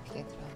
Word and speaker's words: Pietro: Se il tuo nome è Pietro, la E va aperta. Pietro.